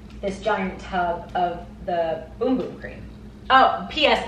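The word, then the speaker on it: Bum Bum: giant tub of the boom boom cream oh ps it's spelled b-u-m-u-m but it's pronounced boom boom learn that on their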